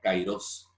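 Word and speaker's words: καιρός: Algunos conocen esta palabra en griego, se pronuncia kairos, y es el tiempo de la oportunidad.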